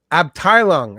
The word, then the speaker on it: Abteilung: And this is just doing the panel liners and with this Abteilung.